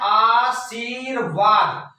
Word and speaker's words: आशीर्वाद: तो सही उच्चारण इसका क्या है, आशीर्वाद। तो आप जानते हैं कि जो रा का उच्चारण होता है जिस शब्द के बाद होता है, या यूं कहें कि जिसके पहले करना होता है उसी पर क्या होता है वो लगा दिया जाता है।